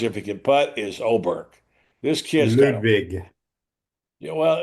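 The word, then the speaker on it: Åberg: he can putt is Oberg. This kid Ludvig. Yeah. Well, it's his first name is Ludvig and it's pronounced it's spelled A but it's pronounced Oberg.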